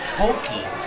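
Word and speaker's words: potjie: this is called it's it's pronounced pokey but it's spelled p-o-t-j-i-e which i would say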